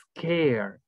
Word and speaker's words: scared: Entonces, a veces uno dice scared, y no es scared, es scared, que no sé si notan la diferencia. Scared. ¿Ok? Entonces, la S, hacemos énfasis en la S y luego lo demás lo pronunciamos.